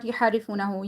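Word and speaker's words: يُحَرِّفُونَهُ: Okay, not yuharrifunahu. Yuharrifunahu. Okay. Wow is silent, and before that there is zamma. So we're going to be stretching it according to one alif.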